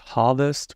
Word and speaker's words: rvest: we need this package it's pronounced Harvest because we want to harvest the data from the website we want to scrape